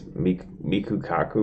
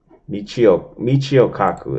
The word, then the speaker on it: Michio Kaku: This is the dude, man, that they say, some people say he's actually, this Miku Kaku, whatever the fuck his name is, Miku Kaku. I know I'm not saying it right.